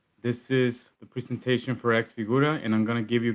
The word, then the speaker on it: X-Figura: Actually, am I pronouncing it correctly, Daniel? I've heard it's more like it's xFigura. Like a little Figura. xFigura.